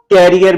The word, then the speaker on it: carrier: तो इसका सही तलफ़्फ़ुज़ या प्रोनाउंसिएशन है करियर। करियर। तो मजे की बात है कि मोस्टली हम इसको कैरियर बोलते हैं, कैरियर नहीं है, ये है करियर।